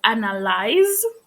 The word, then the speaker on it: analyze: So the verb is analyze with a Z, but the Analyze. noun analysis, it's the S, This.